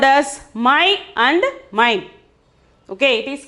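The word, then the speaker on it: मैं: We have to pronounce it as my. N is silent.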